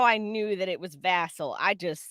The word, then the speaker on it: Vassel: And thing is, I don't even know how I knew that it was Vassal.